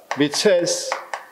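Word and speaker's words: 미헬스: 모스카 모스카 파레토 그다음 미첼스 라고 번역되는 우리는 미첼스 독일 사람이라 미에스라고도 발음하기도 해요 오스카라는 사람은 소수의 조직력이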